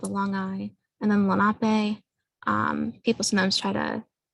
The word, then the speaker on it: Lenape: people um sometimes have misconceptions on how it's pronounced but it's one eye with a long eye and then lanape um people sometimes try to suggest a lake lenape um but that's again a different pronunciation that's